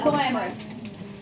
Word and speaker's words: glamorous: Malachi, what do we do glamorous? Who knows? Emil. Accent. Where? On the front there. First syllable.